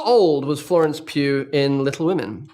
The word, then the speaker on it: Pugh: it's be honest finally it's Hugh but with a p be honest finally all right it's Pudge we'll be back we're back how old was Florence Pew in Little Women how